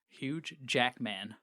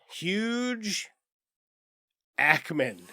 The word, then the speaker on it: Hugh Jackman: You've got Hugh Jackman. Huge Jackman. Hugh Jackman is how it's pronounced.